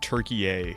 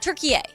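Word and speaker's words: Türkiye: It was like Turkey-A. Turkey-A. Sounds Thank you. like the way that they were saying it on Turkey-A. TV.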